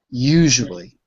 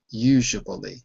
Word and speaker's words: usually: you it's you notice between the U and the a usually there is a w it's not written but it's pronounced so let's go around